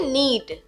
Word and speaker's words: knead: English में कहेंगे नीड, KNEAD, नीड। इसमें के साइलेंट होता है।